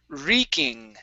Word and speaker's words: wreaking: Havoc Havoc okay good this word here is wreaking okay the the W is silent re wreaking reing good